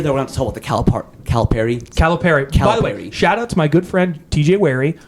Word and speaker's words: Calipari: to talk about the Calipari. Calipari. By the way, shout out to my good friend TJ Wary, who is a Memphis grad, who confirmed it is Calipari.